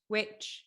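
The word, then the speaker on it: VVitch: Witch. What is it? Witch, but spelled as Vitch. Vitch.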